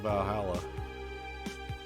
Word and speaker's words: VA-11 HALL-A: The name sounds silly, a bit hard to pronounce. Good thing it's actually called Valhalla. The funny numbers and letters are just a code.